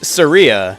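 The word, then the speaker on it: Saria: huh grumble grumble so apparently is Surya not sir I I'm gonna mispronounce a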